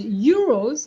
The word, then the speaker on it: euros: Euro versus euro. Euro as in euro, the currency versus euro. Heureux means happy. Okay, and it's it's the same sound, whereas euros, as you said, the currency, the second syllable is a O, not an E.